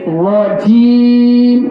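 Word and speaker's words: رجيم: মিনাশ মিনাশ মিনাশ মিনাশ মিনাশ শাইতানি মিনাশ শাইতানি রাজিম রাজিম রাজিম রাজিম আউজু আউজু বিল্লাহি বিল্লাহি মিনাশ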